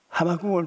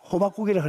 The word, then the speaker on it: 하박국: 난 옛날에는 하박국을 발음을 잘못하다가 호박국이라고 합니다.